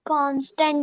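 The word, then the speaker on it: constant: Ma'am बस वो जो आपने पहले पढ़ाया था ना, कांस्टेंट या फिर कॉन्सेंट, उसे क्या प्रोनाउंस करते हैं?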